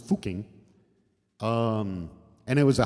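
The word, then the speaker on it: Fucking: or over here it's pronounced fuking um and it was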